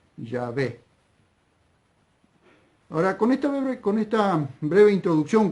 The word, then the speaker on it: Yahvé: Pero creo, por lo que vengo leyendo, vengo estudiando y vengo viendo, que lo más cercano para pronunciar esas 4 consonantes hebreas, Yod, Hei, Bab, Hei, es Yahvé.